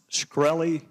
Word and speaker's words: Shkreli: chairman is it pronounced shkreli yes sir see there you can answer some